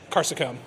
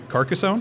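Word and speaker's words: Carcassonne: is the Rio Grand game caracon you mean carcassone carcassone see I didn't say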